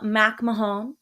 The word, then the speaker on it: McMahon: oh, the Elizabeth McMahon. Department of Education, DOE. Yes. I'm like, Yes. why is Tina Fey there? This is just running stuff. Yeah, Um, just running shit. this article, so Linda McMahon tries to I thought walk it was back,